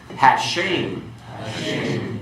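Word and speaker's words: הַשֵּׁם: Hashem, the name.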